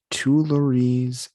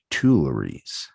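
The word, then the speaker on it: Tuileries: was category was musical inspirations and it says tulares and the great gate of kiev were two of the artworks that inspired this classical work completed in 1874.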